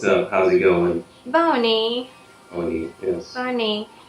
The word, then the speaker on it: Báwo ni: Bawoni, yes.